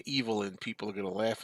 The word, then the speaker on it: Evelyn: because her name is spelled Evelyn but it's pronounce evilin and uh I always feel like if I say evilin people are going to laugh at me and